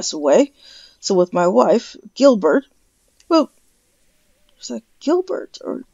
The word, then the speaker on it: Gilberte: The name is French, and it's pronounced in the original French dialect as Gilbert. But in the common English, or say modern English pronunciation, it could be announced as Gilberta.